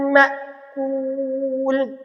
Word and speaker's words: مأكول: فجعلهم كعصف মাকুল, এখানে অবশ্যই মাকুল বলে থাকে, মা এখানে ঝটকা হবে।